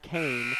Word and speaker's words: Cohen: Spelled like Really? Cohen, pronounced Kane.